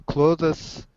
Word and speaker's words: clothes: We usually wear this one under our clothes. Under our clothes. Under our sweets. Oh, wait. Wait. You got to work on pronunciation here. Clothes. Clothes. Good. with an s at the end though.